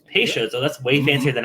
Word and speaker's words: Peychaud's: How do you pronounce it? Peychaud's. Peychaud's.